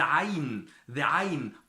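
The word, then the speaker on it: ع: So pronounce it with me. Dal, dad. The ayn, probably the most difficult letter in the Arabic language, and many people cry about it.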